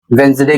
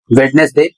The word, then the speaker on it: Wednesday: तो यह वीडियो आपके लिए है, क्योंकि वेंसडे को वेडनेसडे नहीं बोला जाता।